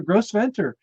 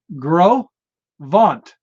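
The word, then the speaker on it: Gros Ventre: when I got there gross ventor no it's I put it in parentheses it's pronounce Gro vant no r in it at all the French they don't pronounce the R so it's Grant like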